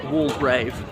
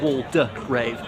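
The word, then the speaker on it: Waldegrave: is a lord uh wall grave I think it's going to be pronounced wall grave not wall duck Rave me thinks the middle syllable is silent because he was a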